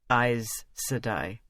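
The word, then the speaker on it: Aes Sedai: shocked to hear that we pronounced it eyes sadai because he had some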